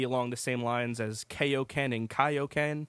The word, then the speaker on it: Kaioken: They said Kaioken.